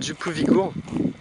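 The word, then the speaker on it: Djúpivogur: Je vais aller voir un petit village portuaire, Djupovigur, prononcé Djupovigur.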